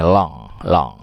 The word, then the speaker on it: langue: Bukan langage, maaf, langui, bacanya long.